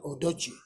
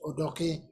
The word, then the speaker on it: Odoke: Here they wrongly pronounce it Odochi, it's Odoke. I say so because it is a one name, so I speak with authority.